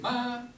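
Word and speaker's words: 妈妈: 솔, 마 이렇게 중국 아이들이 엄마 부를 때 마마 이렇게 하는데 요거 뒤에 이제 똑같은 글자가 두 개가 요래 있다. 요래 하면은 뒤에 거는 솔로 발음하는 것이 아니고 짧고 가볍게 발음을 한다.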